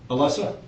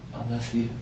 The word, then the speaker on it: Alessia: So is that what starts causing problems between you and Alessa? I think that's when it just started getting, you know. Am I pronouncing her name right? Alessia. Alessia? Okay.